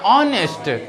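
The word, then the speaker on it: honest: ऑनेस्ट में क्या है? एच गायब हो जा रहा है कि नहीं? अभी हम कहते हैं ऑनेस्ट। तो ये गलत प्रोनाउंसिएशन हुआ। क्या हुआ? गलत हुआ। हम लोग क्या कहते हैं? ऑनेस्ट। ऑनेस्ट ऑनेस्ट। उसमें एच क्या है? साइलेंट है।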